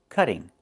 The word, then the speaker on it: cutting: It's pronounced cutting. Move the stress to the first syllable. Cut. Not cutting, but cutting. And in America, we change the t to a fast d when it's between vowels like this.